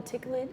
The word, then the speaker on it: Techelet: And that's, what's it called, a ticklet? Or how you say it? Techelet.